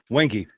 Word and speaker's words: Wenge: Basically, he turned the bowl out of, is it pronounced Wengi or Wenger? Wengi.